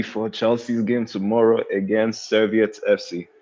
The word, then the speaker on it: Servette: And also getting ready for Chelsea's game tomorrow against Servette FC. Servette, is that how you say it? Servette? Yeah, Servette FC, yeah.